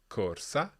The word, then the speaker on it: corsa: we've heard many times corsa now in each case there you'll have heard that r sound and it is rolled it's like a very quick flap at the front of your mouth again we don't want